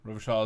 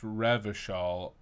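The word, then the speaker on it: Revachol: passes time quickly yeah rovershaw is pronounced revishal um oranie can't put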